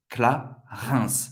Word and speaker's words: Clarins: IN tem o som do 1. Clarins. Você vai pronunciar o S no final.